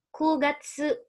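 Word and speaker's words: 九月: Bulan ke-9, September, Kugatsu. Bukan Q ya teman-teman, tapi Ku. Kugatsu.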